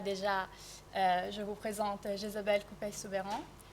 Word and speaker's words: Couppey-Soubeyran: je vous présente Jésabel Coupey-Soubeyran. Je ne suis pas sûre de comment on prononce votre nom de famille. Vous l'avez parfaitement bien prononcé, Coupey-Soubeyran, c'est bien ça.